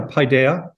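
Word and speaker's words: paideia: better uh and um one of those was Pi Daya is that how you pronounce it how would you pronounce it yeah paidea um that um the Pioneer was word in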